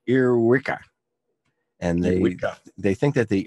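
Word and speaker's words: ēarwicga: Well, it turns out that the earwig is earwiggler in Anglo-Saxon is pronounced earwicka.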